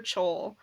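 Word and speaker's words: Chaol: Look, justice for Kaol, or as the Lost Books of Jess on Instagram would say, justice for Chol, because that's how she pronounces his name.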